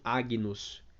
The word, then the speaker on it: Agnus: Sempre que a gente encontrar a sílaba GN, por exemplo, de anos, né, no Agnus Dei, sempre vai ser como o N e o H no português. Então vai ficar Agnus, não Agnus.